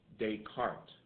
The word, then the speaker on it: Descartes: a French mathematician uh Descartes Rene Descartes uh and you're like that doesn't sound like the last name yeah well it's French that's how they pronounce it however he contributed to